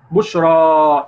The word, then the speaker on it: بشرى: بشرى، شوف نطقتها ازاي. ها الف ولا ياء دي؟ الف. بتنطق الف. جميل جدا. الف.